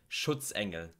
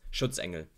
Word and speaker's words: Schutzengel: Schutzengel. Schutzengel. Because of the sh and the tz, the ts sound, but also the n and g, the ng sound. Engel. Engel. It's really hard to pronounce. Schutzengel.